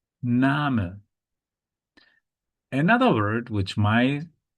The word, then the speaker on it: Name: First detail is that despite it looks like English, you cannot pronounce it like English. Yeah. So the correct pronunciation is Name. Name. Yeah. So this is pronounced Name. Name.